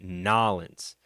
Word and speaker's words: New Orleans: Yeah, I'm here to visit Nolans, cause again, no one pronounces it that way unless you're actually from New Orleans.